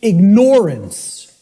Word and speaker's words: ignorance: I tell people, start pronouncing it ignorance. Ignorance. Then people will hear the word ignore in it, and the connotation becomes clear. It means you're ignoring it.